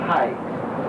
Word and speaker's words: Hey: by the name of high h y we pronouncing hey he's teamed up with